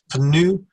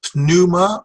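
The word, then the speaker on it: πνεῦμα: and here we have a word that a lot of people pronounced differently I keep the peace silent that's just how I've learned it some people will put the P and make pannu this is a diphthong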